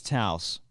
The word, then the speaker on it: Taos: cowboy my name is Taos or at least I I think I'm pronouncing that right sounds like house with the tea I believe spelled like